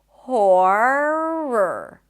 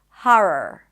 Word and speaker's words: horror: So try to keep your tongue down as you pronounce the O sound, horror. Some people will pronounce it with an open A sound, ha, and then r, horror. Do whatever is easier for you. Both are valid as long as you sound clear.